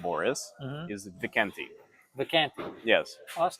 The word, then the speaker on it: Vikenti: And a fun way to remember it is wee cunty. So a little cunt, which I'm not, but phonetically it's similar. Vikenti. I think I'm just gonna remember Vikanti.